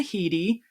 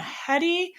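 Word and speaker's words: Headey: It was written and directed by Ol Parker and it stars Piper Parabo, Lena Heedy, who you might also think is Lena Hedi.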